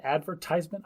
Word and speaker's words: advertisement: it's an advertisement okay so we're stressing the ad advertisement I feel like we're stressing the ties advertisement advertisement man you see